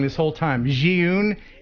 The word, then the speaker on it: Zhiyun: So tonight, big prize is the, and I've been saying it wrong this whole time, Zhiyun. It's pronounced Zhiyun. Zhiyun is how you pronounce this company's name.